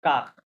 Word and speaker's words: car: একটা বিকজ বলে কাক, CAR, ইংলিশে কার না, ওই কাক উচ্চারণ হবে কি কাক, হ্যাঁ, এই কাক কাক।